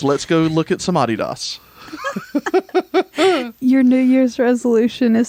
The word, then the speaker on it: Adidas: for 2020 is to pronounce Adidas the way that they do in England, because we just found out that they say Adidas.